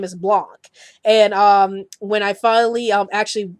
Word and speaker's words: Blanc: reply nice vid but you mispronounced Mel blanks name pnau smell Blanc and um this actually was referring to my top 15 facts on the Looney Tunes video and in that video I kept pronouncing Mel blanks last name is Mel Blanc and when I saw